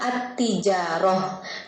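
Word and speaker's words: التجارة: alif lam kalau dibacanya kalau ditulisnya al-tijarah al-tijarah tapi kita bacanya artija roh karena dia alif lam syamsiyah alif lam syamsiyah jadi lemnya nggak kebaca tapi tagnya menjadi bom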